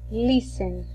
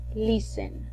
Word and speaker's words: listen: le vamos a decir listen repito listen al momento de pronunciar este verbo vamos a hacer de cuenta que la t no está para pronunciarlo para escribirlo